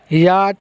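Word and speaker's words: yacht: याट यहाँ पर जो है सी और एच जो है वो साइलेंट लेटर है। कौन से लेटर है? Silent letter. इसको पढ़ेंगे याट।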